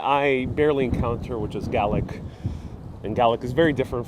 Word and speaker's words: Gaelic: You know, the thing is, in Ireland, it's pronounced Gaelic. Same thing in many parts of the US, we know it as Gaelic. But I've heard it many times here being pronounced as Gaelic, Scots Gaelic.